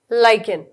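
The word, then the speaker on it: lichen: ये लिचन ऐसे हिंदी में लिखा गया है, बट इट is pronounced as लाइकेन।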